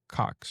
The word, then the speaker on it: Cox: But he's the first NL manager to win back to back since Bobby Cox. Sorry, I didn't pronounce that right.